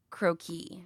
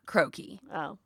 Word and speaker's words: croquis: the first term and I I say it croaky not croaky you've had more French then I believe that the accent is on the second cookie is on a second okay okay syllable what is our next